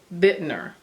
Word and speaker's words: Bittner: But it's called the Sonoma Sunburst Poncho by Maria Bittner, is how I pronounce her last name. Bittner.